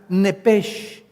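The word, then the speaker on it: נפש: Y cuando consultamos el original hebreo, la palabra vida es la palabra hebrea nepesh, como suena nepesh. La ch en hebreo se pronuncia nepj, como si fuera J.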